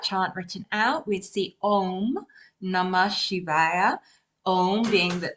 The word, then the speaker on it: Om: written out, we'd see Om Namah Shivaya. Om being the Om we're used to, OM. Your pronunciation was clearly on, more of an N at the sound at the end, and I know there's a reason for that.